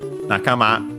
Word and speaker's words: Nakama: Nakama, accent on the last syllable.